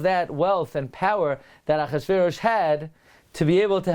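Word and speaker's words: אחשורוש: It's read Achashverosh.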